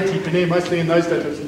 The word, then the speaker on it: Tipene: You know, we were the Tipene kids, and well, they didn't say Tipene, mostly in those days, they just said Tipene, the Tipene kids, instead of Tipene.